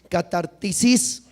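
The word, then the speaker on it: κατάρτισις: español como restaurar, es catartisis. Repite conmigo. Catartisis. Tiene acento en la I, catartisis más bien.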